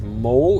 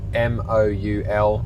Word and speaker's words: Moul: And then tomorrow we're going to do I think it's Moul, it's spelt M-O-U-L, or Moul Falls, which is about a 5-kilometer hike to another waterfall as well.